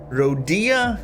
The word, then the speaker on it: Rodia: Rodia? No. I'm gonna keep pronouncing it as Rodia.